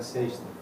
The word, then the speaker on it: sexta: Sexta. Yes, Friday, yeah. Sorry. S-E-X-T-A. Dash. Yeah, that's okay. How do you pronounce that?